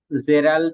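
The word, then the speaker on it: Gerald: জেরাল্ড সাউন্ডটা repeat করতে হবে, জেরাল্ড। আচ্ছা, জেরাল্ড প্রোনাউন্সিয়েশনটা একটু রিপিট করি। ওকে, জেরাল্ড সম্ভবত এটা লাইক জ, জ, জ সাউন্ড, এটা হবে জে, জ, জে। যেমন জুন, জুন।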